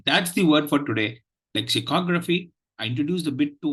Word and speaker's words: lexicography: So the word for today is lexicography. The third syllable takes the primary accent and the first syllable takes the secondary accent.